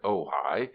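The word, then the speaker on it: Ojai: Ohioans tell you that the queer name of their home you are to pronounce it ohigh is Indian for nest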